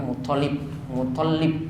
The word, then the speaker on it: Muttalib: Sebenarnya toknya yang ditasydid. Kita sering baca Muttalib, ya. Namun toknya yang saya dapati itu yang ditasydid, bukan lamnya.